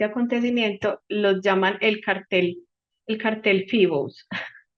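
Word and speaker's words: Phoebus: que se llamó, pues se escribe Foebus, se dice como Fibos.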